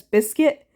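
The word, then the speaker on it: Bizkit: while to realize that it's probably meant to be pronounced as biscuit but regardless this song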